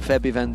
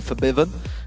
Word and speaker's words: Febiven: for for Biven who we have been told to pronounce it that way by the way if anyone's wondering why we've changed it from febiven to fiven and the same with